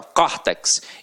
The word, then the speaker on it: córtex: paroxítona terminada em x detalhe aqui agora para não ser aberta córtex então leva acento agudo aqui ó papéis Opa